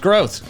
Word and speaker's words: Groth: that was pretty funny that is how you say my last name though that is what I actually end up saying in the video it's a German last name it's not Groth it is Groth drop shot delivering a